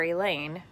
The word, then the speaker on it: Elaine: If I didn't know better, I'd swear Elaine, rhymes with pain, just pulled an A.